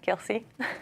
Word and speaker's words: Kelce: Pop star Taylor Swift is getting married to Travis, I don't even know how to say it, Kelsey? Yeah, Kelsey.